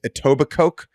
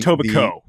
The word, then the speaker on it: Etobicoke: I believe the name of the town, dig into the mind, is Etobicoke from Etobicoke. Silent K.